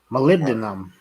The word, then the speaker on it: molybdenum: WFT molybdenum can you guys hear that no molybdenum that's right that's exactly right Travis that's